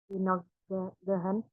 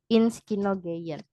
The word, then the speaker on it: ins Kino gehen: 8 Musik Horen, 9 Inogehen, 10 Lesen. Oke, good. Danke. Hanya sedikit kurang tepat pada pengucapan musik hören, lalu ins Kino gehen.